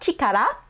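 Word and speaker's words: 力: a kanji full view it is pronounced chikara by itself and it means strength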